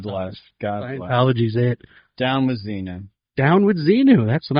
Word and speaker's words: Xenu: Xenu rhymes with Netanyahu.